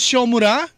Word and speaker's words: Siomura: Paano ba nagsimula itong iyong Shomura? Tama ba yung pagkabigkas namin Shomura?